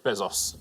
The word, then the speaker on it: Bezos: Yeah, Jeff Bezos is how you would pronounce it.